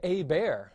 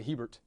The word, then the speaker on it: Hebert: they would do is they wouldn't pronounce this T and for not pronouncing that T they're going to lengthen the e and then that H at the beginning they're even gonna really not pronounce that one either and they're gonna lengthen this they're gonna say a bear where we'd say Hebert but a bear you see and so